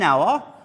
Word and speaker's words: hour: h okay a so it is silent it is mute so I say an hour and not hour because many pupils think